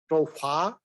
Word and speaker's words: Toufah: change her name we in India or that part we pronounce is tofa in her part is more pronounced like tofa and that means a